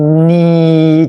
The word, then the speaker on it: need: a t นี่ ครับ e a ตัว นี้ ให้ เสียง สระ อี นะ ฮะ สระ อี ก็ อย่าง ที่ ครู วี บอก นะ ฮะ เป็น สระ เสียง ยาว อ่า ตัว n ออก เสียง ทาง จมูก นะ ฮะ อืม เน บวก ด้วย ตัว อี ก็ เป็น นี นะ ฮะ นี นี่ นี่ อ่า แล้ว ก็ ปิด ด้วย ตัว เถอะ ก็ เป็น need เถอะ need need นะ